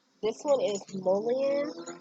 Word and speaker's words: mullein: So the next one is, and forgive me if I'm pronouncing this wrong, this one is mullein. It's spelled M-U, pardon the noise.